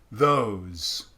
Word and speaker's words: those: Those. Now I know those is spelled with an S, but the sound is a Z.